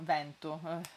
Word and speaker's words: vento: seri con la z io vento lo pronuncio aperto vento per vento vento come anche fetta